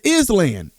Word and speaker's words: island: Like, I wanted it to be explained to me why ISLAND says island. And if it's island and the S is silent, why does the S need to be there?